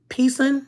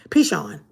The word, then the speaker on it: Pishon: of the first is the pison pishon pichon i always get that name wrong pishon it winds through the